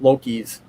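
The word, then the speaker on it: Loki's: So, but that's how it's pronounced, Lokis, like low key, Lowkey.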